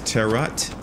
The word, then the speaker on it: tarot: way to say it I always say tarot cards the correct way is terot terot card what to